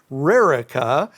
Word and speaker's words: Rericha: r r i c h a and it's Rara I bet you've you've heard some interesting uh pronunciations that name oh it made it made